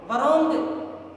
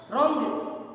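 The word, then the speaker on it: wrong: लिपि के अंदर रोंग, वरोंग, है ना, डब्लू से स्टार्ट करोगे और बोलोगे क्या? रोंग। ठीक है ना? जबकि स्टार्ट कैसे किया आपने? डब्लू से स्टार्ट किया, वरोंग थोड़ी बोला। क्या बोला? रोंग। डब्लू साइलेंट हो गया।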